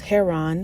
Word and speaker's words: Heron: Blood of Zeus follows Heron (hair-on), yes that is how it is pronounced, the super-strong half-human illegitimate